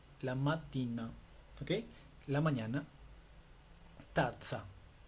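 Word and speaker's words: tazza: Tatza. Tatza. Como si fuera pizza.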